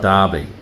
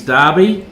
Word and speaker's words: Derby: The Earl of Derby. Yeah, I know. Derby is the American pronunciation, but the correct pronunciation is Derby.